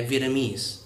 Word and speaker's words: Vietnamese: người hay đọc sai, là Vietnamese với trọng âm vào âm cuối. Vietnam và Vietnamese.